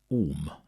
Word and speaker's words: om: Hindu scriptures is the word om which is pronounced um right okay meaning God